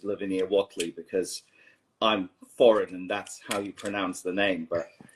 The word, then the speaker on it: Lavinia Whateley: Already here, Lavinia Whateley.